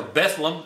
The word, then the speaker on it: Bethlehem: at rocket stadium and Bethlehem comes to town or Bethlem is the way they pronounce it we call it the City of David around here and Beth lamb comes in four and